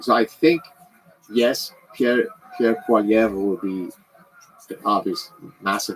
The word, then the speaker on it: Poilievre: So I think yes, Pierre Poilievre will be an obvious massive improvement over. Is that how you say it? I mean, if you say it with the proper French accent, yeah, it's Poilievre.